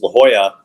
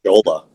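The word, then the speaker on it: La Jolla: areas I possibly could, which was La Hoya. I didn't know anything about it. I don't I didn't even know how to spell it or say it really, right? I thought it was called Legola.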